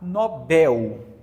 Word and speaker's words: Nobel: quê gente oxitona então se você pronuncia funil anel pastel Você vai pronunciar Nobel tá agora olha olha